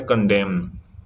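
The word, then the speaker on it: condemn: दूसरा वर्ड है यहाँ पे कंडेम, कंडेम, इसको क्या पढ़ेंगे, कंडेम। यहाँ पे एन क्या होता है, साइलेंट होता है।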